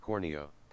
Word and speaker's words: Corneo: Just oh, he, talking meat said Corneo. oh, he said Corneo, not Cornea. I think I always pronounced it Corneo though.